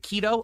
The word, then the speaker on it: keto: How it's Is it keto? Okay, thank you for telling me. I had no idea. It's keto. So, I'm saying keto and I'm saying it incorrectly.